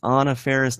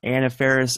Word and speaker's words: Anna Faris: Guys, it's Anna Faris, not Anna Faris. Of course, Jeff Snyder got it right as far as the pronunciation goes.